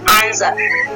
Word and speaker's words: answer: जैसे एग्जांपल यहाँ पे ANSWER, ठीक है। देखिए यहाँ पे एस दिया गया ना, तो एस क्या है, डब्लू है ना, तो डब्लू क्या है आपका साइलेंट है, और इसको हम क्या पढ़ेंगे, आंसर।